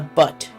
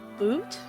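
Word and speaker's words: Bhut: lower half of a butt jaw I'm sorry what a what b-h-u-t it's pronounced but not boot I'm thinking a hoot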